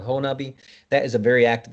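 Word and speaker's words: Honobia: bail hole nut hole it looks like hoenobia is how it's spelled but it's called honubi that is a very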